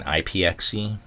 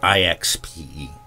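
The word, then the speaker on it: IXPE: been corrected I've been saying ipxc it's i x p e that's you know p-e-p foam ixp I apologize I somebody corrected me and I looked it up and I was like I've been saying it wrong I don't know why I was saying ipxe but they even said that I was probably confusing it with pxe boot which is a way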